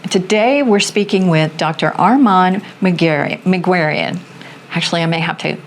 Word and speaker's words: Armand Meguerian: So the correct way is Arman Magurian, but I've heard Magurian, etc. So whatever is most comfortable for you. I think Magurian is probably the most common pronunciation I've heard, so I'm fine with that one.